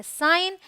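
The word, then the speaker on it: sign: Alright, rule number 2 says अगर जी के बाद एन आए तो जी साइलेंट होगा।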